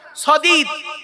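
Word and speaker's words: صديد: সদীদ, শুনে নিন, সিন দিয়ে সাদিদ, শিন দিয়ে সাদিদ, সাদ দিয়ে সদীদ।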